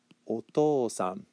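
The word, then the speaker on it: お父さん: after the kanji, and a change in the pronunciation to otosan. Otosan would be the reading for the respectful version of father.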